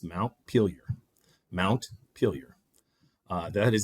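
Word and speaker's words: Montpelier: of Vermont, which I had always thought was pronounced Mont Pelier, but now with Alexa and Siri, you can actually ask and it's actually pronounced Mount Peelier.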